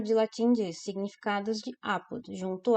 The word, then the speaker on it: apud: No Priberan, apud, aí tem ali a transcrição fonética, o acentinho no A, porque apud vem do latim, e em latim não havia oxítonos. Por isso que a pronúncia dessa palavrinha é apud.